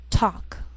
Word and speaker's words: talk: sheal it wheel Veil sometimes L can be silent so you have to